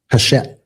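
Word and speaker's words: Hachette: Hashet.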